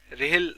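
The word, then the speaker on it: RHEL: ঠিক আছে যেমন হচ্ছে আর এইচ এল রেহেল নামে এইরকম উচ্চারণ হয় ঠিক আছে এইটা হচ্ছে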